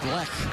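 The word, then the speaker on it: Bleich: He'll face a new Yankee pitcher, left-hander Jeremy Black, I believe is how it's pronounced.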